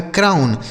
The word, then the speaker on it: crown: ठीक है, आगे देखिए CROWN, तो CR से हो गया दोस्तों करा, इस OW का उच्चारण आऊ, N से न, यह लिखा गया है क्राउन।